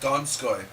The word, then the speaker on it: Donskoy: Tom, it's pronounced Donskoy.